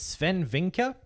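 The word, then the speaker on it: Swen Vincke: that uh I think I think it's Sven vinker is how you pronounce his name the I think he's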